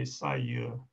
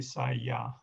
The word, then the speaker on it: saya: In Malaysia, most people say sayur, meaning I. But in some places in Malaysia and in Indonesia, they say saya.